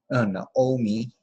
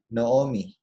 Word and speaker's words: Naomi: It's marked with meteg, which would normally say that we would say na. It's an open syllable, na-omi. But everyone will say no-omi.